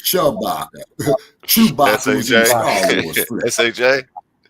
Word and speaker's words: Shabaka: Okay, no, it's not Chewbacca. It's Shabaka.